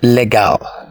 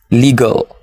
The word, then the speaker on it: legal: Do you say legal? It's wrong to say legal. The correct pronunciation is legal.